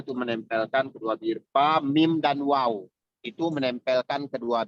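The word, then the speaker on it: ميم: Sekarang kita ke huruf mim. Huruf mim. Huruf mim tadi makhrajnya ya seperti yang saya jelaskan tadi, huruf mim sama dengan waw sama dengan ba, yaitu berasal dari pertemuan kedua bibir.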